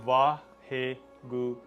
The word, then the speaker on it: Vaheguru: And Vaheguru, this is also 4 syllables as well. So in a way it could be connected with the 4 steps.